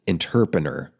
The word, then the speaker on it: interpener: So, of course, I looked it up on my own, and it is pronounced interpener.